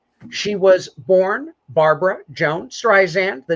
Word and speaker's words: Streisand: career etc uh she was born barbara jones streisand the name is well known how do you pronounce that name john how do you pronounce it streisand streisand now diana rosen her mother her father